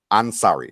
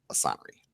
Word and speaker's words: Ansari: A 23-year-old photographer went out with a Ansari, not Assanri. Ansari. I am not sorry, but his name is Ansari.